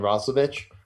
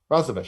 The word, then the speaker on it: Roslovic: I don't think there's anyone that can match up against him and Roslovic. Roslovic. Right? Roslovic. I said it right the first time.